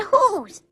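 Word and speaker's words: whose: whip and whistle and sometimes they have the sound of H in whole and hos but that's the exception does whoa great answer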